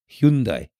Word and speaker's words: Hyundai: I'm going to actually tell you how you're supposed to pronounce what people say is Hyundai or Hyundai or whatever. It's actually Hyundai.